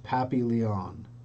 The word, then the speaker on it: Papillion: It's pronounced Pappy Leon.